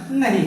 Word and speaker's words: know: के यहाँ साइलेंट है, लिखाता जरूर है लेकिन उसका उच्चारण नहीं होता है, इसको नो बोलेंगे।